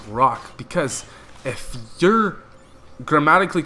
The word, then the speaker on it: Roch: So now that it's spelled differently, it's spelled R-O-C-H, it doesn't make sense to be pronounced Rock, because if you're grammatically correct, R-O-C-H would make the sound ch, okay?